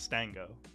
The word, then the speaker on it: Stango: of the show of veteran smash studios own Stang go that's how you say right it's Stang go yeah yeah okay I would hate to mess up the pronunciation on that Stanga what's going on man